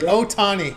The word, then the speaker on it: Ohtani: Ohtani, like oh boy, Ohtani.